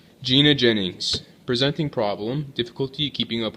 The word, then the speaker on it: Jennings: you too so Gina um how do you pronounce your last name it's Jennings Jennings okay so how do you spell that